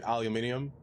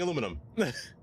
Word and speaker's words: aluminum: the periodic table to be aluminium to match the other ems like titanium or lithium. It was changed by the European Union. The European the Europeans changed the word aluminum to make it match that. However, the Americans kept it the same on the western side as aluminum. Originally, it's aluminum. I'm staying aluminum.